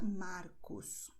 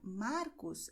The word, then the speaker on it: Marcos: Mas em outras regiões do Brasil, em muitas regiões, a maneira de pronunciar Marcos é diferente. É com este som aqui. Então, em muitas regiões do Brasil, as pessoas dirão Marcos, ou seja, com o som da garganta.